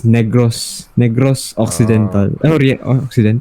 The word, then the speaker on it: Negros Occidental: It's a we actually pronounce it as Negros Occidental. Oriental. Yes. Oriental. Yeah, Negros. We don't say in a way where it's actually, you know, that kind of thing.